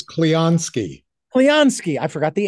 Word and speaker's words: Clionsky: Emily and Mitchell uh cleowski did I get that right thank you for joining us close there's an n in there so it's cleanski cleonski I forgot the N